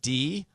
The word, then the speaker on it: Diorio: It's Diorio, and then Diorio. Diorio, like the Oreo cookie, but it's not spelled like the Oreo cookie.